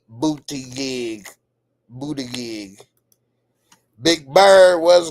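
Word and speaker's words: Buttigieg: Damian Kenny, you said is pronounced Pete Booty Gig.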